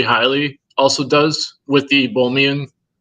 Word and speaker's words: Hiley: Hiley also does with the Bohmian. He's spell that and look it up.